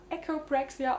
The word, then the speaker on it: Echopraxia: Buch rezensieren was ich jetzt einfach mal echoprxia ausspreche da das auch der englische Originaltitel ist und das deutsche Wort meines Wissens nach echopraxie und nicht echopraxia lautet deswegen hoffe ich die englische Aussprache ist korrekt es wurde von Peter